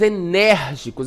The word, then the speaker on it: enérgico: Passos enérgicos, olha só, colégio, Colégio, enérgico. Nós temos aí um som aberto, Diferente ali do bebê, que o som é fechado, colégio e enérgicos tem aí sons abertos, certo?